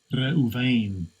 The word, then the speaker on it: Reuven: See how you pronounce it. Strong's H 7205. Reuven.